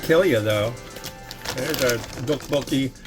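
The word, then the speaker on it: 떡볶이: But the correct enunciation is a soft T or a hard D.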